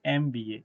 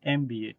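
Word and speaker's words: MBA: देखिए यहां पे अगर एमबीए को आप उच्चारण करेंगे तो आपको क्या उच्चारण में आएगा? इ एम एमबीए एमबीए। ठीक है? तो यहां पे इ जो है यह आपका वोवेल साउंड है और इसलिए यहां पे क्या यूज़ होगा?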